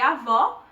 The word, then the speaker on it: avó: de uma maneira fechada a gente percebe nitidamente a diferença entre avó com acento agudo para avô no acento circunflexo uma marcação e aberta ea outra é fechada há uma